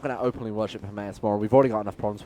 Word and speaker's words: Hermaeus Mora: We're not going to openly worship Hermaeus Mora.